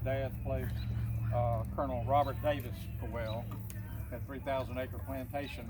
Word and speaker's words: Caldwell: And one of those is, you say Caldwell, but I think they pronounced it Cowell.